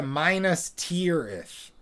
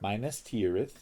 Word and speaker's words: Minas Tirith: Then they go to Minas Tirith. That's how they pronounce it. Minas Tirith.